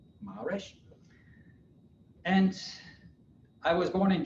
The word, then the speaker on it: Maresch: It's Maresch with the A pronounced like in the word father, and the accent is on the first syllable, Maresch.